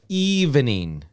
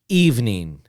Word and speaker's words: evening: two sounds instead of evening evening so two sounds okay number nine three sounds evening two sounds evening number ten whoops number